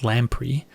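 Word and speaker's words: lamprey: what that is so it is lampri pronounced lampri and it's a noun which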